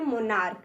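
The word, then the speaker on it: monarch: होता है राजा देखिए इसके अंत में भी सीच है लेकिन हम उच्चारण निकाल रहे हैं मोनार्क यानी क तो इसमें भी हम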